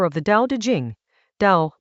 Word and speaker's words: Dao: Dao, pronounced Dao as a now, is about a particular